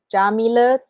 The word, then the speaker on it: Yamile: you did thanks anyway so my name is Jamie jae-hoon job that's how you pronounce my name jameelah jmoon ja and you can find me at